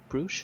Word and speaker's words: brooch: Brooch? Brooch? Brooch, yeah, a brooch. But you said bruise.